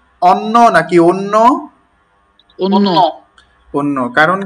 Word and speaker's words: অন্য: অন্য। কারণ কি? আচ্ছা, কারণটা তো বলা হয়নি। হ্যাঁ, অধ্বনির পর যদি ঝ ফলা থাকে, কি ফলা থাকে ভাই? ঝ ফলা থাকে, তখন উচ্চারণটি ও এর মতো হয়, যেমন অন্য, অন্যান্য, হ্যাঁ।